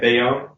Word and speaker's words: Bayon: Bayonne?